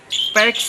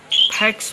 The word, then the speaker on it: PACS: दरअसल पैक्स को बहुत लोग गलत तरीके से फैक्स बोलते हैं, जो कि शब्दों का गलत उच्चारण होता है। हम आपसे कहना चाहते हैं कि असल में अंग्रेजी अक्षरों PACS को मिलाकर हम इसे पैक्स बोलते हैं, जिसका पूर्ण रूप